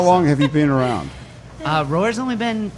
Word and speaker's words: Roar: How do you pronounce it? That was Roar.